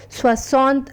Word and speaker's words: soixante: 60, which is pronounced as Soixante and is written as SOEXRNTA.